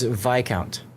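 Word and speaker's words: viscount: The S is silent because the word comes from old French and Latin roots like vicem where the S sound dropped out over time.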